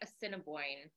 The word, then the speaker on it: Assiniboine: Harry is a descendant of Irish Fort Peck Austin Bone and Shawnee people and Carrie I'll also asked you to be sure that I or I pronounced your tribes correctly yes Fort pack Assiniboine Cinnabon thank you so fun facts about Carrie